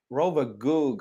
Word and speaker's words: Rovagug: Rovagug, I think. Yeah, Okay. it's with the U. I think I wrote with the O, but Oh, okay. it's a U. Rovagog.